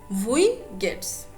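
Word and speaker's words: Wie geht's: you do remember that w will be pronounced like v vui gets and answering your question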